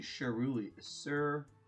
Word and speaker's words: cerulean: I've heard people pronounce this paint name so many ways. But it should be cerulean blue.